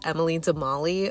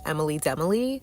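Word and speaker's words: Emily de Molly: just call it I do know that it's pronounced Emily demali but it's just kind of I don't know like an inside joke maybe that I just call them Emily demily and I mentioned that once on my channel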